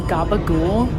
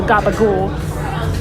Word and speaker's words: gabagool: one of them was Gabagool. And I realize now that that is a Sopranos reference, or like it's from the Sopranos. It's the way that you pronounced capicola.